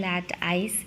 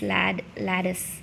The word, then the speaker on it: lattice: lateralனா I am so sorry, all this time I have been using lat-ice, even though it is ICE, it is pronounced as is. Actually it is lattice.